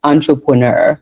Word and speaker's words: entrepreneur: First of all, the word entrepreneur is a French word. So, you have to know the origin, too. For example, study the key influence how you pronounce it. It's a French word. Entrepreneur.